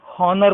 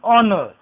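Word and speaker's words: honour: Second word is एन ऑनर, students मान लेते हैं, कंफ्यूज हो जाते हैं, हॉनर बोलते हैं इसको, है को है मानते हैं, लेकिन ऑनर।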